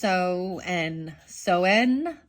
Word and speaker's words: Samhain: Okay, a good thing I'm calling it Samhain. That's what it looked like you say to me. Pronounced Soen.